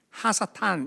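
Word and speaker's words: הַשָּׂטָן: 그래서 이제 이걸 음가로 어떻게 하면 하스탄, 하사탄 이렇게 발음해야 돼요.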